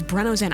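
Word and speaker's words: BRENNZEN: contribution go ahead sorry correct way to pronounce BR enzen is breno Zen I have heard Bren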